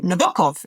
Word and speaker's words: Nabokov: We are talking about Humbert Humbert, the protagonist of the 1955 novel Lolita by Vladimir Nabokov or Nabokov is the correct pronunciation, but You can say whatever.